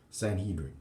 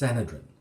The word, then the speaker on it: Sanhedrin: a whole speech about how it's not pronounced Sanhedrin it's pronounced sanadrin sanadrin a whole 10-minute talk